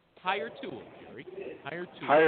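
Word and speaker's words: Hiretual: Higher Tool Gary. Higher Tool. Higher Tool. Spell it.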